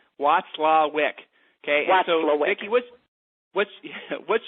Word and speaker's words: Watzlwick: So the way you guys pronounce her last name is Watzlwick. Watzlwick.